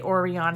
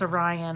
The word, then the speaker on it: Orion: I always want to say Orion and it's Orion. I don't know why. It's one of those words that you know how to pronounce it, but never say it right.